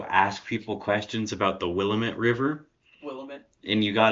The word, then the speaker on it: Willamette: what you got to do is you got to go ask people questions about the Willamette River, Willamette. and you got to keep pronouncing it Willamette.